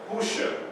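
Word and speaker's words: Hoshea: But without the vowel points, this is pronounced Husha.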